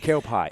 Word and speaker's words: Kelpie: So, at this point, I think we are still trying to decide whether it's pronounced as Kelpy or Kpai. Kelpie. It's literally pi. P I E.